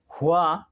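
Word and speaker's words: هُوَ: সেখানে আছে কুল হুয়া আল্লাহু আহাদ, হুয়া আছে, হাফেজ হু ওয়া জবর ওয়া, হুয়া।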